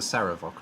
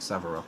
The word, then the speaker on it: Saravok: And sorry, you're the Saravok, not the Savarok, so I'll try and be careful and say it correctly like next time. I've just looked at your name and realized I said it wrong.